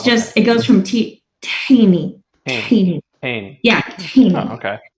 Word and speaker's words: tahini: It's okay, because I would say tahini, but you say like tahini? So there's no vowel between the T and the H in Arabic. It's just, it goes from tahini.